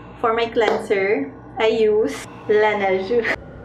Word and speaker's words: Laneige: Okay, every morning for my cleanser, I use Laneige. That's how they pronounce it in Korean.